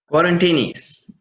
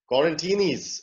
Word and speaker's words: Quarantinis: Quarantinis. Quarantinis. All right. We're all quarantined and at home, so we're quarantinis.